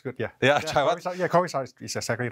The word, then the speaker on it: Kovavisarach: Chaiwat Kovavisarach, do I pronounce it right? Kovavisarach? Chaiwat's good, yeah. Yeah, Chaiwat. Yeah, Kovavisarach is exactly right.